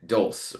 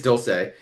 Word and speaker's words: Dulce: It's it's the Spanish uh pronunciation. I think in the meet the queens someone or she said doulse or some some it's somewhere someone was saying the wrong it is doulce.